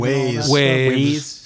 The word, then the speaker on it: Waze: What is that, like Wave? Waze.